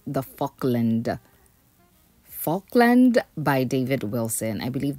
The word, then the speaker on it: Falkland: Now, first of all, I believe I've been pronouncing the house type name wrong. This house is called the Falkland. Falkland by David Wilson.